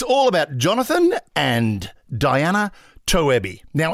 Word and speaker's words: Toebbe: Diana tobby now it's it's spelled tobby t o e BB e but I think it's German so it's probably but no one knows in fact pretty much everybody called toab on the planet cuz yes I